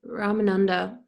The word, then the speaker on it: Ramananda: also superficial go ahead deeper then remind them ramananda is that the right way to say it